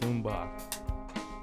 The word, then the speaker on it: Mbah: The Bogcast, episode 33, Joseph Mbah.